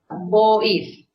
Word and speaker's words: Boif: Is Boif, B-O, not O, B-O-I-F.